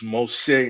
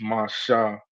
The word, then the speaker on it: Moshe: But other than that, like for example with Moses, which is Moshe in the Hebrew, they would pronounce that as Masha because the the shin and the he or in their case the the sha and the ha would be connected together. So that's how you would